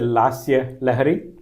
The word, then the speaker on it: Lasya Lahari: So that's the Lasya Lahari? Is that correct? Or did I pronounce it correct?